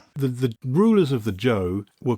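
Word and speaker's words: Zhou: And then you have something which you which I pronounce the kingdom of Zoe, but I think I'm pronouncing the zed where I should be calling the kingdom of Cho. Is it Joe? Yes, it's Joe.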